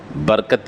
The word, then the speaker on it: برکت: جاتا، ایسا نہیں ہے، برکت اللہ نہیں ہے، وہ برکت اللہ، را کو زبر ہے، ذہن میں رکھ لیجئے، بسم اللہ وعلی برکت